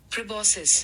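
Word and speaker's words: proboscis: प्रोबोसिस। प्रोबोसिस। ठीक है? इसकी प्रोनाउंसिएशन क्या है?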